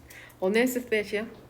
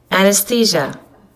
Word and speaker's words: anesthesia: 어네스테시아? Anesthesia. Anesthesia. 들었어? Anesthesia. 어네스시아라고 읽는데요.